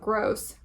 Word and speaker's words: Gross: Not even genius tutor Ronald Gross, rhymes with floss, could help her get her scores as high as she needs.